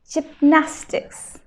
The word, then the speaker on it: gymnastics: three syllables okay six gymnastics okay now where's the stress the second cell the second syllable gypnostics right okay now how